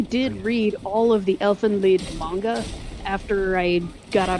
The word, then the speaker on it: Elfen Lied: Yeah, I watched Elfen Lied. Okay, Elfen Light is really fucked up though. Yeah, it was All I got. you see, it's But actually I pronounced read the manga. Elfin Lead because it's Is it lead?